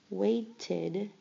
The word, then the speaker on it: waited: Waited. Waited. Notice it's id ends with the id sound, but you spell it with an ed.